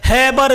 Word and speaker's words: Haber: हैबर विधि से। गौर कीजिएगा, NCERT लिखता है हाबर विधि, तो हाबर विधि रहे, हैबर विधि रहे, सब प्रोनाउंसिएशन का अंतर है, नाम वही है, इसलिए